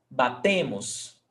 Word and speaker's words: batem: And attention to stressed syllable. Batem. Batem. Not batem. Batem. The stressed syllable is before last, tá?